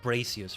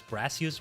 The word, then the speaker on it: Brassius: It's not Bracius, right? It was Brassius.